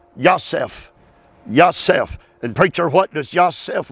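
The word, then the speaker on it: יוסף: It is spelled Yosef. Yosef.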